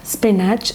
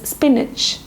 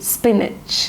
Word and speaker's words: spinach: like we can make curry, that is known as, how do you pronounce this word? It is not spinach, it is spinach. Okay, I repeat, spinach.